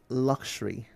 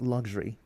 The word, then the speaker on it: luxury: Pleroma, the word is luxury, not luxury.